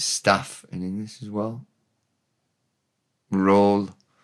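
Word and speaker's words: rôl: rhol R with an O with an O with an roof over it and an L, r o l, roll. It's roll and l r o l e in English.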